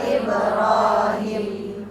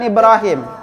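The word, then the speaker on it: إبراهيم: Hampir rata-rata membacanya pendek dengan mengatakan Ibrahim. Nah, sementara itu kalau tulisan Indonesia lapasnya Ibrahim. Tapi kalau lapas bahasa Arab Ibrahim.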